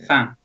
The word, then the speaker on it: fin: It's fin, which is French for the end. Oh, right, okay. So I think it's pronounced fan.